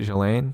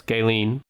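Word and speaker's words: Ghislaine: sex offender oh jeffrey is that how you say it jelaine no it's gaylene gilliam maxwell yes gailene maxwell she uh like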